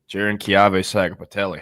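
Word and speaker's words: Jaron-Keawe Sagapolutele: Outdueled by Cal, true freshman superstar Jiren Kave Saga Patelli.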